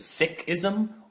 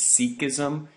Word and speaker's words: Sikhism: on Sikhism or Sikhism either pronunciation is fine more traditionally the tradition is referred to as Sikhism and we're talking about the sick people though I kind of go back and forth because the more common pronunciation in the United States is Sikhism and Sikh people but you should know that either one is okay generally okay moving forward